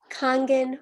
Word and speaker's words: Kangen: this water i know kangen is actually how we pronounce it thank you for that a-a-n-g-e-n so it's like kite apple nice girl excited nice kangen water it's a japanese